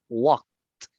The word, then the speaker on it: walked: Entonces, en este caso, la pronunciación de esta palabra sería helped, helped, Help, helped. help, Digamos de esta, walked, walked, what, walked.